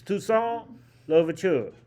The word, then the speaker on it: Toussaint Louverture: You have to pinch your nose when you say this. Toussaint Louverture. Very nasal French.